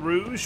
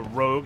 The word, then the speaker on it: Rouge: while we're heading to Queen Rouge or Rogue as some people may pronounce it because that's how a lot of people seem to misspell it for some reason come on it's just